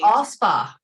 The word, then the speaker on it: Alspach: It's all spa, no CH. Alspach.